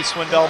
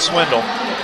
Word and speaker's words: Swindell: want to get Becky Swindell mad at me so I need to make sure I pronounce it Swindell and not Swindle uh but yes he's